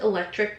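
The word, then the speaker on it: Electrick: It's just electric, but spelled like trick, T-R-I-C-K.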